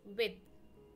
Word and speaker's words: with: Here, TH being at the end of a word, with is pronounced with the voiced TH, with, not with.